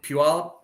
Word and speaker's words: Puyallup: Right below Puyallup.